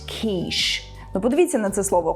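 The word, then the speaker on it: quiche: друг каже No te It's pronounced keish ну Подивіться на це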